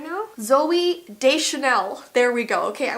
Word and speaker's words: Deschanel: Oh, this is Zoe Deschanel. Deschanel now. What's her last name? Oh my gosh. Why don't I know this? What's her name, Zoe? Like, I'm so off on the pronunciation right now. Zoe Deschanel.